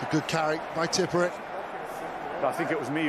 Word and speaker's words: Tipuric: Tipuric. Apparently that's the correct pronunciation.